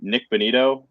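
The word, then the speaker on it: Nik Bonitto: But this defense is legit, and Nick Bonito, is that how you say his name? Yeah.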